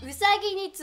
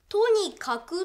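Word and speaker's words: 兎に角: これこれはね、これはうさぎに角って読むの。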